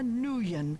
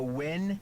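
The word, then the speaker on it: Nguyen: not be unveiled until Maya nuan hey lady you're breaking my heart isn't her name Maya win mispronounce it until Maya win is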